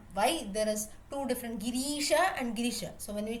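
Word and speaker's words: गिरीश: Girisha, usually when the Ri is long, it has some connection with goddess Parvati.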